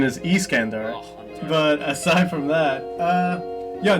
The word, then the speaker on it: Iskandar: this over oh yeah well first of the pronunciation is Iskandar but aside from that yeah they're to me